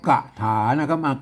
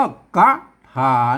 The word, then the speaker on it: คาถา: กัน นะ ครับ มัน ไม่ ใช่ คน ทั่ว ไป มา อ่าน ว่า กะ ฐานะ ฐานะ มัน ไทย นะ ครับ ต้อง อ่าน ว่า คาถา แล้ว ก็ ไม่ มา